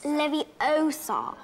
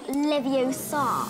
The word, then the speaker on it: Leviosa: natural feel into things you're saying it wrong it's leviosa not leviosa every day was a